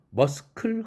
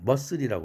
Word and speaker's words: muscle: 그 밑에 줄 크 발음에서도 머슬, 근육이라는 단어, 머스클 하지 않죠. 머슬이라고 그러죠. 크가 빠졌습니다.